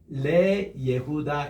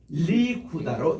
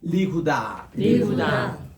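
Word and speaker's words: ליהודה: 그래서 유다를 위해서 할 때는 레 예후다 이 발음이 리후다로 이렇게 바뀝니다. 따라합시다. 리후다.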